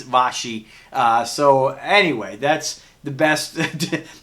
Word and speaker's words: Vaschy: so I so anyway there was washi but I think its Boshy so anyway that's the